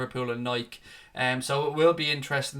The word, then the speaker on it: Nike: on, with Nike, because it is pronounced Nike, even though I say Nike all the time.